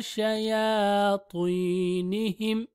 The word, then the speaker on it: شياطينهم: إلى شياطينهم شياطي شنو شياطينهم شياطي is heavy or thick.